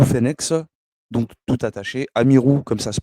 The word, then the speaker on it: Amirou: donc moi mon adresse mail c'est Amir Amir Amirou phenex donc tout attaché Amirou comme ça se prononce am i r o u fenex attaché